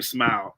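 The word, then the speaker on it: Smael: Uh and I that's meant to say his name Smile. I heard it the other day. Smile. It's it's spelled funny but it's Smile Mundon Jr.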